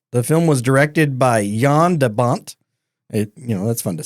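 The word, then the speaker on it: Jan de Bont: June 10th 1994 the film was directed by Yan debont you know that's fun to say that is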